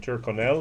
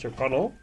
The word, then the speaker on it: Tyrconnell: I always said Tyrconnell, and it's Tyrconnell. That's the way the people in Ireland say it, at least. Tyrconnell single malt Irish whiskey, 16-year-old, 46%.